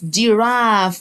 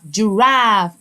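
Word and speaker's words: giraffe: زرافة يعني جيراف والإي في الآخر ما انطقهاش. جيراف.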